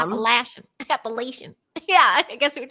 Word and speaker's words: Appalachia: Appalachia. It depends on where you're from. Appalachian.